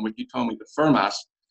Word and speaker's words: Fermat: he told me that Fermat would have pronounced the final T in his name, given the era and part of France he grew up in.